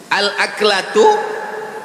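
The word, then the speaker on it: الأكلة: Al-aklatu bifathil hamzah. Cara membacanya, hamzahnya baris atas, a.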